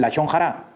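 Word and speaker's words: לשון הרע: La shonarra. Hable durito. La shonarra. La shonra o la shon jara. Algunas personas dicen la shon jara.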